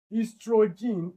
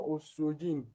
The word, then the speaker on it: estrogen: Estrogen is not ostrogen. This O is silenced is pronounced as estrogen.